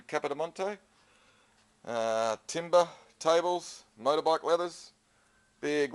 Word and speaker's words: Capodimonte: It's interesting that the spelling, the way it's spelt and the way that the R is silent in Capodimonte.